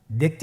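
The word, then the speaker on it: ضاد: দেখতে একই রকম সদের মতই শুধুমাত্র নুক্তার পার্থক্য সদের মধ্যে কোন নুক্তা নেই দদের মধ্যে নুক্তা রয়েছে দদ হারাফটি উচ্চারণ করার সময় অবশ্যই তিন আলিফ টেনে পড়তে হবে আপনারা আমার সাথে বলুন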